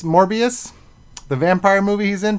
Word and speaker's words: Morbius: things about uh i'm gonna say it wrong morpheus morbius the vampire movie he's in from marvel uh